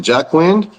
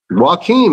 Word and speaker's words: Joaquin: What's it, Jack Wind? How you say it? Joaquin, man, I'm telling you.